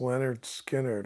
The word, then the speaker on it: Lynyrd Skynyrd: know they introduced them I said oh it's Leonard Skynyrd I see I get it I said what